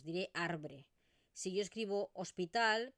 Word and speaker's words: hospital: Por ejemplo, podríamos tener la palabra hospital. Fijaros que la escribimos con una O, pero realmente lo que yo pronuncio es una U.